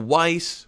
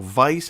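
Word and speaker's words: Weisz: uh david harbour um rachel weiss or rachel vice however you choose to pronounce it um and their familial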